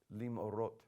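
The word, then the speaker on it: למאורות: I included the schwa on my pronunciation just a minute ago as a separate syllable. But in this instance, it's not. It's going to be a two-consonant syllable, lim'orot, which you should already remember why that is.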